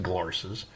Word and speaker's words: Glarses: It's pronounced Glarses, and spelled that way.